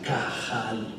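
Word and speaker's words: קהל: La palabra que Jesús utilizó fue una palabra hebrea que se escribe con Q y que se pronuncia cajal. La palabra cajal la encontramos en los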